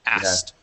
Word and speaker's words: asked: word you're not okay if you listen carefully to how most Americans say that word they do not say ask asked in pronouncing that K we skip right over it and say asked okay um next word